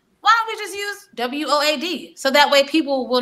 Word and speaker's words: WOAD: But even now, people still have problems pronouncing it because they say, oh, it's the WOD. I'm like, no, it's the WOAD. It's like road with a W, just WOAD.